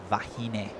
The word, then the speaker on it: Vahine: I'm going to go and tell you that is Vahine. Vahine Fierro. And that actually means woman. The Hawaiian word for woman is wahine, but still they kind of pronounce that with a V as well, like vahine.